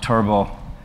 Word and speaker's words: Turbot: So it consists basically of a single board computer, the Minnowboard Turbot, and the T is silent, I believe.